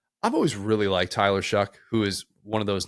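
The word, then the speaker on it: Shough: always really liked Tyler shuck who is one of those names that doesn't look like it should sound like that it looks like it should be pronounced show but it's shuck yeah it's weird plays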